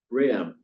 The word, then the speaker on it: Bram: Bram rhymes with ham. Only one syllable instead of three.